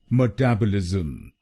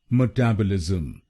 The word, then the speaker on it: metabolism: और ये ध्यान में रखिए कि हमको दूसरे शब्दांश पर यानी TAB पर जोर डालना है। मेटाबॉलिज्म। गलत प्रोनाउंसिएशन में हम META पर जोर डालते हैं, मेटाबॉलिज्म। तो इसको मेटाबॉलिज्म नहीं बोलिए, इसको बोलिए मेटाबॉलिज्म।